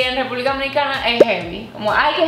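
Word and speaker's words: jeve: Se escribe J-E-V-E. Como heavy.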